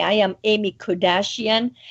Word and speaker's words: Kodachian: She'll correct me the proper pronunciation. And it's Kardashian. Yeah, it's not Kardashian.